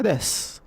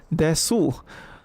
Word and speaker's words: です: Ocha des. Okay, why is it des? Why is it des? Well, you know this word is su, right? We learned it's su. But why don't you pronounce desu?